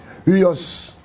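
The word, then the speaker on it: υἱός: En grec, ça s'écrit H U I o S. Uos.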